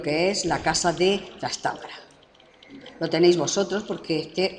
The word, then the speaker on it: Trastámara: misma Dinastía los trastámara os recuerdo que en algunos libros aparecen sin acento en otro aparece como esdrújula trastámara eh era Isabel es